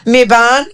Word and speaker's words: Mibayn: Mibayn. Mibayn.